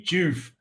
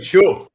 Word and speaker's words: Choof: I'm glad you like it, and I love hearing Americans say "joof" Yeah. because we say "chuff." We say Oh, we say "chuff," but uh, every time I hear an American say it, they go "choof."